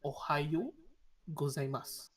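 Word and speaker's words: おはようございます: There's a U. Ohayo Y-O-U. U. Yeah, but the U is kind of pressed up together, so it sounds like Ohayo gozaimasu. Mm. Yeah. If you slow down, it sounds Ohayo. The YOU it sounds a bit dense together. Even Mm. it's just sound O, but it is at the end of tune you hear like a U.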